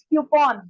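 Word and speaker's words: coupon: और त्रिशा ने पूछा है, इट्स क्यूपॉन।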